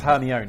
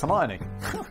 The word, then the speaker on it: Hermione: In my mind, it was Herion until I saw the movies and I was like, "Oh my god, it's Hermione.